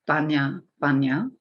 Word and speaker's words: Bunya Bunya: It says Bunya Bunya, or Bunya Bunya is the way they pronounced it.